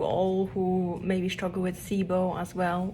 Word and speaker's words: SIBO: who maybe struggle with sibo as well or cybo as the us friends um pronounce it day three and i